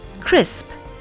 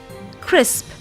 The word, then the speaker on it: crisp: Here's how the words are pronounced: grasp, grasp, crisp, crisp, lists, lists, chloroplasts, chloroplasts. They're a little tricky, aren't they?